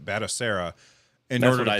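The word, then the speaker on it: Batocera: what's he talking about battle Sarah is another operating system essentially and so if you want to do that then you are you dual boot over to I think I'm saying it right batasera and what did I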